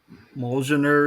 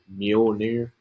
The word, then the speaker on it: Mjolnir: Isn't it like Molgener or something like that? All right, I'll give that to you because it is hard to pronounce. It's like Mjolnir, I think it's Yeah, what yeah, it's okay.